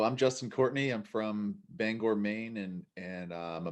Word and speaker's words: Bangor: pronouncing that right so so it's bangor right yo yeah and people want to say banger but there's an o in there for sure so bangor yeah yeah see i